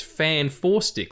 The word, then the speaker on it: Fant4stic: And yeah, the poster it's Fan Four Stick. Like Fantastic Four is spelt FANT4STIC. Fan Four Stick. So now it makes sense.